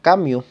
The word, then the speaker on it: Camus: un autor que es albert cambio albert cambio o albert camus como se escribe un filósofo y literato